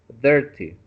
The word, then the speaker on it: dirty: Remember the IR, dirty. It's like an E, okay?